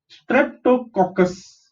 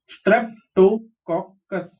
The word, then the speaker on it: Streptococcus: temperature, bacterial strains of Streptococcus. Okay, how do you pronounce this? STREP. Strep. TO is to. COC is cock. CUS is cus. Streptococcus.